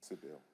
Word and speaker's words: Seibel: And that's when she put me on the phone with the property owner, Ms. Seibel, I think is the pronunciation. Sybil. Seibel, thank you, sir.